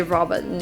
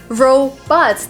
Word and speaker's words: robots: pronounced robots like in in version would say Rober I just didn't care so I pronounced that way like every second comment Marina